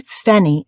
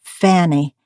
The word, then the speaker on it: Fanny: aspirate Harry she said if you call me fenny again it's war and pinching my name's Fanny and yours is Harry